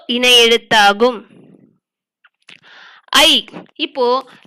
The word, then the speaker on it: ஐ: ஐ உச்சரித்து பாத்தீங்கன்னா ஆவும் ஈயும் சேர்ந்ததுதான் ஐ. ஐ என்பது உச்சரிக்கும் போது ஆ ஓசையில் தொடங்கி ஈ ஓசையில் முடியும்.